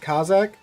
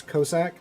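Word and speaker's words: Cossack: See, I've heard it be be pronounced Kazak. There's this one guy that swears up and down. I should say it as Kosak, I guess, cuz like one's the Russian pronunciation, one's the British pronunci the English pronunciation.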